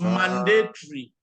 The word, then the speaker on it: mandatory: not story it is mandatory mandatory obligatory notorious obligatory three okay compulsory so when it ends with o-r-y you don't pronounce the o you just say three